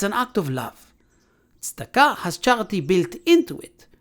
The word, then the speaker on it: tzedakah: I think it's a question of tzedakah. You mean tzedakah? Charity? It's pronounced tzedakah.